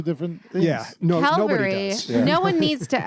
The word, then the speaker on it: Calvary: Notice I said Calvary and used it correctly.